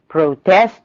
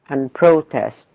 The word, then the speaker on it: protest: Protest and protest. Reject and reject. هنشوف الفرق بينهم. الناون بياخد الستريس على أول syllable. الverb بياخد الستريس على تاني syllable.